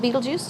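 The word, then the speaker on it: Betelgeuse: so we have beetlejuice the star called beetlejuice just like the movie and i've heard it pronounced a couple different ways in beetlejuice is in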